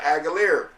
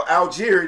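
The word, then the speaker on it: Allgeier: And the Cardinals always also picked up running back uh Aguiler from uh from the uh Falcons, right? No, Alir, that's how you say his name. Alier, number 25.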